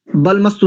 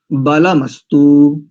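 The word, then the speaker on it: बलमस्तु: रूप से ध्यान द बल मस् नहीं करेंगे बल बल मस्तु ऐसा आगे देखिए इसका फिर उच्चारण कर रहा हूं ओम बाह वोर में बल मस्तु और अगला ओम र्वो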